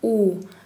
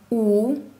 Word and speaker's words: у: Буквы У, Ü и F. Буква У во всех татарских словах и словах, заимствованных из русского языка, произносится У, как в слове урман.